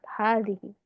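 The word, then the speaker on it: هذه: Cukup ditulisnya waw satu aja, tapi dibacanya tetap Dawud. Kayak hazihi.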